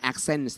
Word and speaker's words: Axens: Jeff Caden, for the knowledge from long-term study of your company Axens นี่นะครับออกเสียงถูกแล้วนะฮะ Axens นะครับบริษัทนี้นะครับสุดยอดเลยอธิบาย I can pronounce it now. It says Axens, right?